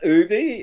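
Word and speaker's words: OOBY: pronouncation pronoun oh pronunciation it's Ubie OB um it's four O's and our by y so it's out of our own backyards oh all right cool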